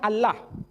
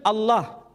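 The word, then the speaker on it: الله: Tidak ada seorang pun di kalangan masyarakat Timur Tengah ketika menjumpai istilah Alif, Lam, Lam, Ha, dibaca Allah. Tetapi mereka serempak menyebutnya dengan pronunciation Allah.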